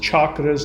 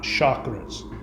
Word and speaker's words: chakras: chakras are and there it's pronounced chakras not chakras.